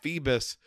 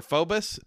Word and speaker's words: Phoebus: coming off of being Captain Phoebus, or Phobus, from Hunchback of Notre Dame. How's it pronounced? Phoebus.